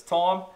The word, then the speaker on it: thyme: It's spelt thyme, but it's thyme.